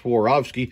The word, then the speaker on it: Swarovski: we've got some swarovski crystal yes dave it's pronounced swarovski you can see right here it's a uh